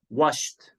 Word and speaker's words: washed: So here, ED is pronounced ta. Washed.